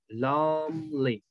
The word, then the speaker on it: lonely: And the last, we have lonely. Lonely. Lonely. Ok. Long significa estar solo. ¿Sí? Lonely. Entonces, long, esta E no la pronunciamos. Y lo demás sí. Lonely.